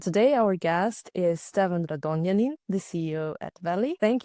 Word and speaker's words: Radonjanin: And today our guest is Stean Radonin, the CEO at Valley. Thank you for joining us Ste. Great pronunciation of my last name.